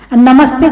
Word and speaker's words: नमस्ते: नमः ते, जो सा है बीच का वो हलंत है, वो 2 बिंदी लगाते ना, नमः ते। तो नमः ते विसर्ग को उसको आधा सा उच्चारण किया है, तो उसका पूरा शब्द बन जाता है नमस्ते, यानी तुम्हें नमस्कार है।